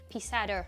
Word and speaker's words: Pizarro: I'm not gonna try and pronounce the double R because I can't roll my R's. Pizarro.